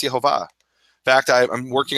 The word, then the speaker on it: Yehovah: that said it's Yahweh I have found Jewish sources that say it's yahovah in fact I I'm